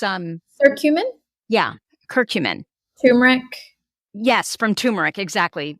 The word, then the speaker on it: curcumin: ask you about two supplements omega-3s and um curcurin is that how you say it the cumin no it's not cumin it's um or cumin yeah curcumin turmeric yes from turmeric exactly yeah which you